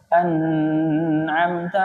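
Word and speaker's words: أنعمت: enggak bisa baca alhamdulillahibabbil anamta alaihim atau anamtaaihim Sedangkan anamta ini hukumnya jelas tidak boleh didengungkan bacanya Anai ini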